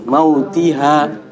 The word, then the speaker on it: موتها: Kalau berarti jangan mautiha, itu nggak ada panjang. Mautiha gitu. Mautiha, jangan kepanjang mautiha.